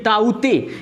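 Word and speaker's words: ताउते: जो होता है ना, इसका प्रोनाउंसिएशन है ताऊ और ते। ये देखिएगा, ये ताऊते यानी कि तौकाते जो चक्रवात है उसका प्रोनाउंसिएशन रियल में ताऊते है।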